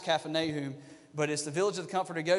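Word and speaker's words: Kfar Nahum: that talks about Jesus at Capernaum or kep pronounced Caffyn a whom but as the village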